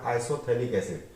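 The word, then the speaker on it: isophthalic acid: ये pH pronunciation नहीं होता है तो इसका नाम है आइसोथैलिक एसिड।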